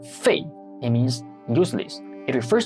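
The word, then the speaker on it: 废: in English that's rubber in the forth tone Fei it means useless it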